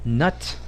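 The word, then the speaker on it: Knut: on on Reuters about nut and it's spelled k n u t it's it's a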